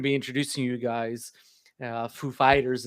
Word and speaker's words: Foo Fighters: It's like, "Are is the accent on the the the fight or the the the the Foo or the Fighters?" He's like, "Oh, it's on it's on the fighters, sir."